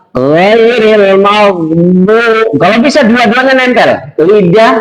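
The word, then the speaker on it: غير المغضوب: Kalau mengucapkan bod itu harus ada ya ini dari bagian samping bod. Ya, di situ cara membacanya adalah ghairil maghdubi.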